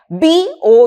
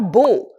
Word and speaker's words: bow: B O W. Bow or bow. When it is pronounced as bow, it is a verb and